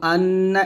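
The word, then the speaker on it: أنّ: তারপর আপনারা আবার আশহাদু আন্না এটা দুইবার বলতে হবে হামজা সিন জবর আশহা জবর হা আশহা দাল পেশিতু আশহাদু হামজা নুন জবর আন এখানে অবশ্যই গুন্না করতে হবে আশহাদু আন্না আন্না এরকম মিম পেশ মুহাম্ম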